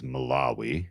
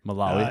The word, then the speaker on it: Malawi: Uh it's uh the pronunciation of the country is Malawi. Malawi, okay. I'm not making fun of you. Just just don't want you to get caught offsides if you tell someone who's uh familiar with the uh the pronunciation. But yeah, accentuation on the law.